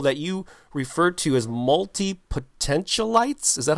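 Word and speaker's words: multipotentialite: group of people that you referred to as multi-potential lights is that how you do how am i pronouncing that right it's multi-potential it's you got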